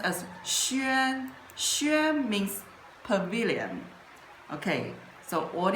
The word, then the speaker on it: 轩: it pronounced as sh means pavilion. Okay. So what is the history of sh look at the structure of this character is